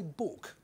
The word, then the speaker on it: book: one who died only she didn't say book almost no one any longer said book to rhyme with to or look or even Fu as in you you bastard which was the way it was pronounced in flat Val Lawless Lancashire just a few